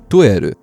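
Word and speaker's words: トイレ: A lot of words in Japanese were borrowed from English, but they've been pronounced Japanese-like. So toilet becomes toeru.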